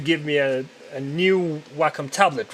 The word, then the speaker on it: Wacom: whack no it's pronounced Wacom because it's Japanese brand so that's how they would pronounce it so I'm using a